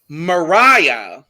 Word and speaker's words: Mariah: features we had daniel mariah which i would have never guessed that's how you say her name either but i will be remembering like mariah carey that's how i'm gonna remember it personally um so it